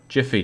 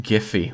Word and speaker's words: Giphy: get out oh my god where is home jiffy do you have something better to say this is our world it's pronounced giphy why because the fellowship went over to gondor